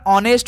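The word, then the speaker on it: honest: में साथी नेस्ट में एच का उच्चारण स्थान नहीं होता ऑनेस्ट बोला जाता है तो ऑनेस्ट में साथी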